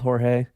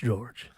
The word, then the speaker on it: George: Or Jorge. I've been told that he doesn't like being called Jorge. It's just George.